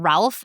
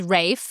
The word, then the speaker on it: Ralph: He often tells people that his name rhymes with safe signs. Okay. Because people get it wrong so much they call him Ralph. And he's not Ralph. Not Ralph. He's Rafe. Yeah. Like safe and fines.